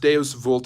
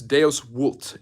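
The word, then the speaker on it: Deus vult: go with that um deos vult from Moses which is actually not pronounced deos vult it's deos wult V in Latin is W just like w in German is V like not wner Herzog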